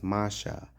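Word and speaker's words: משה: The name Moses, pronounced in ancient Hebrew, is Masha, which means drawn from water.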